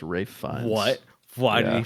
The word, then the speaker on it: Ralph Fiennes: We were saying Ralph. It's Rafe Fiennes. what? Why did Yeah. he pronounce it?